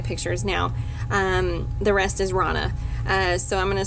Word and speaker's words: Rhonna: The rest is Rana.